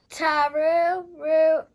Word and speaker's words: Taruruuto: Taruruuto.